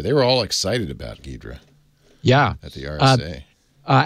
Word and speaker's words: Ghidra: because I was clueless I think I was saying gydra or something uh anyway several people said uh Steve it's gidra uh anyway the the